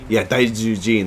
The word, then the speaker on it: Daijujin: So it's only it's like 4 syllables long, and it's just like it's Dai Zu Jin. Jin. So Dai is big, Ju is beast, and Jin is God.